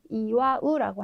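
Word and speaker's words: 祝う: 동사 같은 경우에는 빌다라는 의미의 축자를 써서 축하하다라고 하는 이와 우라고 하는 동사가 있고요. 네, 무엇을 숨기다라는 뜻의 네, 이거는 은폐하다 할 때 은자인데요. 카쿠스라고 읽어주시면 되겠죠.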